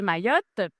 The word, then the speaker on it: Mayotte: Et euh Mayotte dont euh j'ai écouté des vidéos, vous êtes certaine de bien prononcer le nom. Donc, on prononce le T.